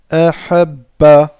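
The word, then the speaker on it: أحبَّ: Vous entendez bien comment j'appuie sur le bas. Je n'ai pas dit ahabba. J'ai dit ahabba.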